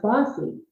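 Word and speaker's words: BAWSI: Um, so we started with just an idea and somebody very quickly said Bay Area Women's Sports Initiative, the acronym B A WSI would be pronounced bossy.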